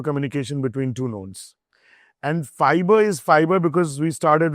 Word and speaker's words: Phibr: Fiber. There's no logic to it, but then that's how it started. पर बहुत मुश्किल है उसको pronounce करना और spell करना. Because fiber is what I would say.